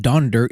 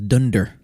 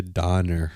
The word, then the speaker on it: Donder: And it's not Donder. It's actually in the original text is Dunder. Dunder, because it sounds like thunder. Thunder. So, but that's the German pronunciation of thunder is Dunder. Blitzen. But then when they Americanized it, they said it Donder. Donder. And then when they wrote the song, they changed it to Donner.